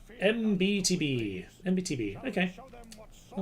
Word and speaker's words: MBTB: It is pronounced as the letters MBTB. MBTB, okay.